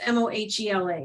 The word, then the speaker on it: MOHELA: Also, somebody says, also, is it Moila or Mohila? As I saw someone earlier. I think it's Mohela. Is that correct? Yes.